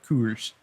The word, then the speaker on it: Coors: Coors.